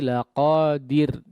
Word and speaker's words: laqadir: Ya, yang pertama tadi di ayat sebelumnya ya, huruf ra-nya perhatikan di sini ditipiskan kondisinya. Ya. Innahu ala raj'ihi laqadir. Dir, jangan diru, ya.